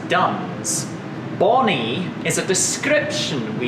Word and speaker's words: Duns: Is it Bunny? No, the town we were founded in is Duns.